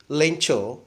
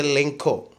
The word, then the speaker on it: Lencho: Most of the students are pronouncing the word Lencho as a Lenko. Don't pronounce it.